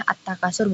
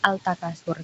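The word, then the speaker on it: التكاثر: Nah, ketika ada alif lam yang bertemu dengan huruf idgham syamsiyah maka melebur. Jadi masuknya langsung ke huruf ta-nya itu. Jadi dibacanya at-takasur bukan al-takasur gitu.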